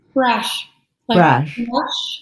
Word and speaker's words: Brasch: how do you say your name bro brush brush yeah so brash is on a mission